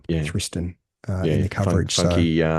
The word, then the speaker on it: Thriston: Now, Tristan Lawrence, and I think it is actually a Tristan, even though it's spelt Thriston, Andy Walker. Well, One of, that's what they were pronouncing. They were pronouncing yeah, Thriston in yeah, the coverage.